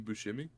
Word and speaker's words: Buscemi: Steve Buscemi? I don't know how to pronounce the last name.